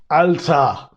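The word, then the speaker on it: Alter: in the comments down below but it is alta and this is a short version of alta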